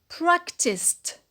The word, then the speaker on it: practiced: When it is in the past, it's practiced. Practiced. So we have two syllables, either in the infinitive or in the past, and the ed is pronounced to.